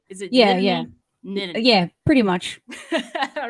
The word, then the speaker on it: Nittany: Did I pronounce that right? Is it Nittany? Nittany.